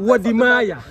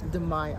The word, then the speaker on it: Wode Maya: I can't pronounce his name properly, so I don't want to. Wode Maya. Thank you. Mm-hmm. Exactly. Can you say it, please? Wode Maya. Wode Maya. Wode Maya.